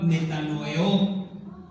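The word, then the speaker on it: μετανοέω: genuino, es la palabra metanoeo. Metanoeo, así con acento en la última O. Metanoeo. Como metano, de gas metano, pero le anotas ahí eo y el acento en la O.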